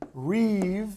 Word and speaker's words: rib: of Oracle is a Reeve Oracle that's the way you pronounce it it's spelled rib but ribs are for Tony Roma's not Reeve a Reeve is a